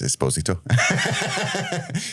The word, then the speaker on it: Esposito: It's not your all's fault, but my name is Esposito. So, but every time I pronounce it that way, I get hundreds of people like, loser, idiot.